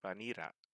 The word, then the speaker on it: banira: No. They would pronounce that banira.